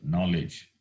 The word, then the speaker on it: knowledge: Say, for example, knowledge, Knowledge. K doesn't have sound, silent, knowledge.